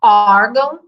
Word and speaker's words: órgão: pode mais comum né a gente fala órgão e não pagam bom né a tônica não está no fim mas é mas o